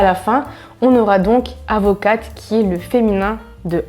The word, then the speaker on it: avocat: la fin du mot On ne prononce pas le « t » à la fin Attention aux lettres muettes